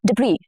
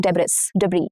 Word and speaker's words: debris: Debris, and not debris.